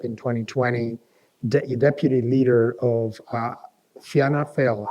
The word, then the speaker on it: Fianna Fáil: He was Minister for Agriculture and Government Chief Whip in 2020, Deputy Leader of Fianna Fáil. How do you pronounce that?